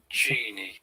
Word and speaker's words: genie: Um, next word is now it is Genie, soft j, G. e, e, j, e, e, j, e, e, genie. So it's soft G.